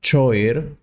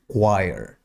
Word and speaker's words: choir: 21 wire chir chir it's not choer or Co the correct pronunciation is choir for example we have